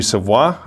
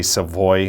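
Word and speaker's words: Savoie: to number six and yeah i got matthew savoir i know they say savoy but it's savvy i live in quebec guys it's a proper pronunciation of this guy's name so i got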